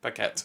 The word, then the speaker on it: Paquette: I remember it was Renee Young, but how do you pronounce her surname? Is it Renee Paquette? Yeah. Paquette, yeah.